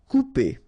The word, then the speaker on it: couper: Couper. Okay, when you combine this O and U together, you will get the sound OU.